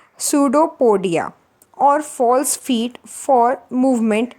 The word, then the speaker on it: pseudopodia: write the p because while writing the spelling p is not silent but when we will discuss or when we will talk about it then p is silent so that's why we will discuss and pronounce it this word as a pseudo podia students okay so